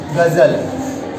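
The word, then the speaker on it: ग़ज़ल: ये यहाँ पे सिर्फ जी से पढ़ा जाता है, ये जी एच, जी एच इसका उच्चारण होता है। इसका अगर हम देखें तो गमला, ये गमला हो गया और ये हो गया गजल।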